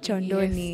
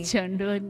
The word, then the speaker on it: Kyondoni: means a basket oh that's how it's it's pronounced choni choni my bad guys so choni means a a